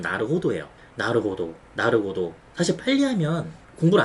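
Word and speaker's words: なるほど: 나르고도라는데 저는 20년 동안 그 발음을 나르고도라고 들었어요. 근데 알고 봤더니 이게 나르호도래요. 직접 확인한 건 아닌데 다른 일본 유튜브 하시는 분들이 이게 쓰시는 거 보면 나르호도예요.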